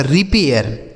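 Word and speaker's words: repair: जैसे आर ई पी ए आई आर। तो आर ई से हो गया दोस्तों ऋ। पी से हो गया प। ए आई आर से क्या बताया हमने? एयर। तो यह हो गया आपका रिपेयर।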